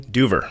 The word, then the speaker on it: Duever: pronounce your last name duver duver that's how I've been pronouncing it in my head it's a good guess but I was you know like it has an extra e in there it's a little weird